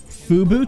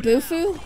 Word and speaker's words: Bufu: it looks so cool is it FUBU time you mean bufu buffu sorry I said it wrong you know it's my